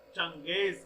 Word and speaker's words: Genghis: Spelling ध्यान से देखना बेटा, लिखते ऐसे हैं GENGHIS, लेकिन क्या पढ़ा जाता है इसे? चंगेज Khan.